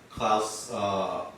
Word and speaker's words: Klaus: It's Klaus, by the way. Whatever. Klaus. It rhymes with Klaus, guys.